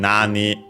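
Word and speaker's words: 何: So as for this nano nan from nani what uh the interrogative pronoun again nani on its own all accented on the first syllable nan uh in combination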